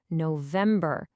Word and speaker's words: November: It's a weak, strong, weak syllable pattern that can really help you nail the pronunciation. Just listen closely. September, October, November, December. Hear that? Da-dum-da. It's the same for all 4.